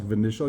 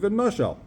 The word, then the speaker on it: v'noshal: For Rabbanan Savra Yeshem Lemikra, Rabbanan say, we learn not lefi how it's written, we learn lefi how you say it. We say v'noshal. You don't read the pasuk v'nishal, you read v'noshal. So, and v'noshal means it fell off itself.